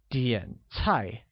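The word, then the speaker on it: 点菜: its height done very good similarly order becomes DN high which uses a falling rising tone on the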